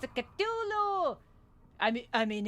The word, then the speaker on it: Cthulhu: honest because the culu is scary. I never knew it's pronounced culu instead of a casulu but that's me.